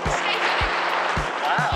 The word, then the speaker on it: Scheveningen: Scheveningen.